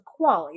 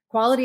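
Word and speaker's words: QALY: year which coincidentally is the definition of the quality the quality adjusted life here that you may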